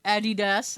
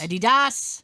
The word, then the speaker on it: Adidas: some good price sneakers i like i like adidas right or adidas as they say in europe that's how they say it yeah that's how they say in your manner eddie adidas eddie das that sounds like a uh like almost like